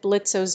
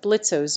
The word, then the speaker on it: Blitzø: Word are not pronounced in the case of blitzo's name the O is not pronounced which makes it silent this is a common